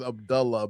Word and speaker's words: Abdullah: Well, yeah, like for those who don't know, it is the correct pronunciation is Abdullah.